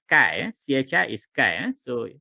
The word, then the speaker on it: chi: pronounce this is not Kia chy is not t it's not something out of kung fu movie no so it's pronounced Sky Chi is Kai so it's also known